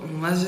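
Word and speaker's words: 맏즈: The "MAT" in MATZ is pronounced with a "d".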